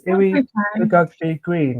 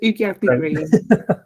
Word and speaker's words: Iwi Ugiagbe-Green: I'm going to have to ask your name, pronunciation for the surname, if that's the case. It's Iwi Ugiagbe-Green. Have I said that's right? Yeah, really good attempt. Ugiagbe-Green.